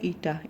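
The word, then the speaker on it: η: इसका प्रोनाउंसिएशन होती है ईटा, ETA, और इस तरह से इसको सिम्बोलाइज करते हैं।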